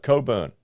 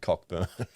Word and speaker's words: Cockburn: down 16 percent ah Coburn cover Etc we did a tender for that and I kept calling it cockburn you know how how